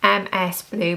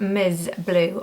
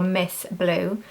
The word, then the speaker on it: MSBLU: so you can see it looks like Ms blue but it's actually pronounced M blue or Miss blue and these are more